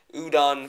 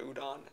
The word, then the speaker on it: UDON: is done by this reign of people that udon found online i think that's like spelled it pronounce it it's u-d-o-n uh udon has a